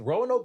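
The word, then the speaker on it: Roanoke: couple of those shows we are August 16th Rowan Oak Virginia Rowan Oak that's how you say it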